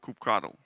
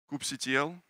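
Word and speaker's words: kubectl: Google Cloud to provision my uh kubernetes cluster cook control how many of you agree with mavic pronunciation of Coupe control how many of you call it Coupe cuddle Coop CTL group control a few few my people here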